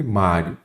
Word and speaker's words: Mário: sempre trago o mestre Mário Qual é a sílaba tônica Mário é o má então a sílaba tônica é a penúltima Então ela é uma